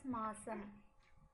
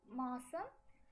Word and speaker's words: மாசம்: மாதம் or மாசம். So, மாதங்கள் or மாசங்கள். மாதங்கள் or மாசங்கள், both are right. While writing, we say it as மாதம், மாதங்கள். While speaking, we pronounce it as மாசம் or மாசங்கள்.